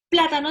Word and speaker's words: plátano: una cáscara de plátano, plátano dice pla, en esta sílaba.